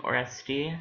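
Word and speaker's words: Oreste: or or I think oresti that's how you pronounce it um cuz it's French um there was um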